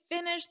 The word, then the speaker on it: finished: finished they've finished and notice that pronunciation on finish in the past simple it's a soft T finish very soft they've finished